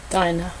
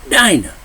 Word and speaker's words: Dinah: my honey's always on the ball Jacob's daughter diner diner I always pronounce it wrong the only daughter mentioned with the 12 tribes of Israel in scripture Dinah Dinah paid a visit